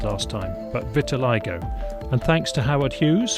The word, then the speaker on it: vitiligo: explains in the last episode but it's not pronounced Vitiligo as I said last time but Vitiligo and thanks to Howard Hughes for correcting me